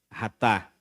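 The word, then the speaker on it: חטאת: tópico pecado no hebraico ratar significa errar o alvo tá os irmãos estão percebendo que está escrito com ch mas a pronúncia realmente é esta no hebraico é ratar pecado no grego armatia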